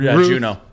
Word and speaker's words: Juno: Is it June or Juno? Juno.